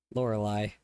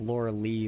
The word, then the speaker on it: Lorelei: Lorelei. Thank you. I was thinking of Laura Lee like it was like a different kind of pronunciation, but that makes sense.